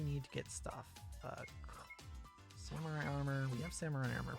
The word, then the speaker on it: samurai: helmets for everyone somewhat i have been using the english pronunciation of samurai whereas in japanese would be samurai again it's just a difference in that case it's just the difference of using the japanese r versus the english are uh i don't actually